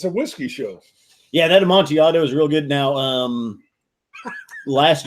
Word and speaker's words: Amontillado: Well, you sent me a couple of that how do you pronounce it? Yeah, Amontillado.